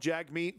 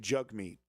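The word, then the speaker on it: Jagmeet: Jack meat sing as jug meat. You got to say it jug meat. It's spelled jag meat, but you say it jug meat.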